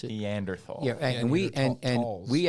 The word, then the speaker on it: Neanderthal: show the migration they also um intermingled with Nathaniel is that how you pronounce it Neanderthal yeah and we and we actually have certain